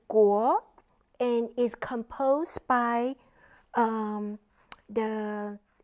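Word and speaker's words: 國: The traditional characters is pronounced as guo and is composed by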